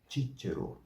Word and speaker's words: Cicero: O tche e o ti são como no italiano, né? Então a combinação se diz tche, tche, tche, e a outra é ti, ti, ti. E este nome próprio contém as duas sílabas, né?